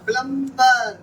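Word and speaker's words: plumber: प्लम्बर। प्लम्बर वह तो होता ही नहीं है, साइलेंट है।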